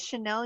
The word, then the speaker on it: Chanel: that how is that how you say it chanel yarn yes okay it's chanel yarn so it's it's potentially chanel yarn i think um it's very soft yarn i don't know anything about yarn so chanel camille chenille she is the expert yes yarn